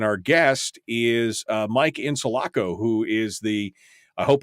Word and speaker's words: Insalaco: I pronounce it right is it in solaco is that right and solaco is right my first name is